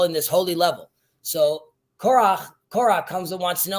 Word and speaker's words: Korah: I want to mention that I don't know how you would pronounce his name in English. Korach. Korah, they call it.